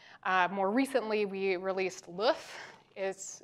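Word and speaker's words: LOEUF: more recently we released LOF is which is pronounced like the egg in French uh not my call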